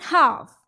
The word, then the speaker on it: half: And in half also, L is silent.